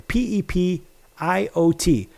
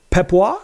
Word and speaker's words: Pepiot: spell it for you, Pepiot. Some people call it Pepois. Some people call it Pepiot. Some people call Pepio. You call it what you will.